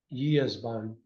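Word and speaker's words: gyászban: Yesban. Great, thank you. And that has all the interesting pronunciations in Hungarian, like the silent G, the SZ is S.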